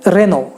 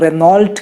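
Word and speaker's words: Renault: फिर रेनो, रेनो को कई सारे लोग रेनॉल्ट कहते हैं, रेनॉल्ट नहीं है, इट्स रेनो।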